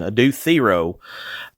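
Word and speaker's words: Adou Thiero: Adue Theo, thank you Carolyn Williams for correcting me on the pronunciation. Adu Theo uh is going to be the Xfactor.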